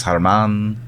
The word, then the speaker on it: Hermann: why like leon louise hermann it's spelled like it's spelled german but it's harman yeah gotcha gotcha as